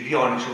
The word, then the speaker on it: Dioniso: persone, perché nel teatro di Dioniso, come bisognerebbe forse pronunciare, ma di solito si dice Dioniso, ma va bene lo stesso, andavano un sacco di gente, soprattutto alleati oltre che cittadini, no?